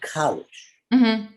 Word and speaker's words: Kalisch: which is called college and yeah same on facebook instagram my name so you pronounce it college now my understanding is